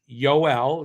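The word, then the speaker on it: Joel: The first Noel, we got a player named Yoel. That's how you say it.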